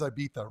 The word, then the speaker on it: Ibiza: I know the correct pronunciation is Ibiza, right?